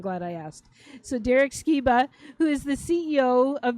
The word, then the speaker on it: Sciba: So Derek Skea who is the CEO of Vision House and